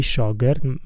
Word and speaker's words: شاگرد: کلمه شاگرد, for example the word شاگرد از دو هجا, it is combined or structured or combined with two syllables. شا گرد. So this is two syllables.